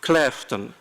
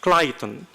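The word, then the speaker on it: Claughton: of Lancaster is pronounced Clton. Another one in the borrow of wire also in Lancaster is pronounced Clyon and one other in neighboring Mercy site is pronounced clottton.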